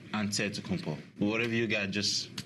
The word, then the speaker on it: Antetokounmpo: In a Greek way, you gotta say with a D, so it's Antetokounmpo. But in the Greek way, you say with the NT, like Antetokounmpo.